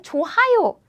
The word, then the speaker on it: 좋아요: 좋아요. Because of this sound, right? Nope. This Korean sound is very weak, so you can pronounce it like 좋아요. It's not 좋아요.